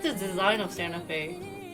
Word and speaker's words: Santa Fe: fuel really but i like the design of santa fe not that big in korea we pronounce the santa pit so don't say santa fe i'm gonna go against this because you guys